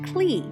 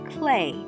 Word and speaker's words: Klee: it should be pronounced cli because it's spelled k-l-e-e but his name is actually pronounced clay like the material we love to use in the art room this work of art